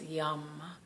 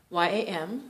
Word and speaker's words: yam: you repeat it and it's yam. Y-A-M, so it's not yam, okay? We're not eating yams, yum, yum, something like that, all right? No, I'm not Indian, but that is the pronunciation I was taught and that I've heard it done and that I was taught, but definitely not yam, all right?